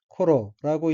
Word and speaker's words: 頃: 넷째 줄 어휘의 한자는 일한경자이고 일본어로는 코로라고 읽으며 코로는 때, 경, 무렵, 쯤이란 뜻의 명사입니다.